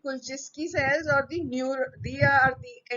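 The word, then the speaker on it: Kulchitsky: The, there are other cells which are called as the Kulczycki cells. The T is silent. Kulczycki cells or they are the endocrine.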